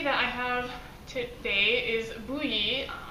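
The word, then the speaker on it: Bohea: i have today is bluey it's the one that spelled like bokya yeah it looks totally different than how it's pronounced it comes from the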